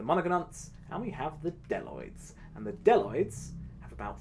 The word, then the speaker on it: bdelloid: diversity enables populations of bdelloid rotifers to subsist on inorganic ions. Now, I get a lot of questions. First of all, what is a bdelloid rotifer? Well, the B is silent, and bdelloid rotifers are microscopic animals.